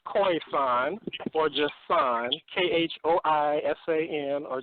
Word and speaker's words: Khoisan: First of all, it's pronounced Khoisan or just San, Khoisan, or just San.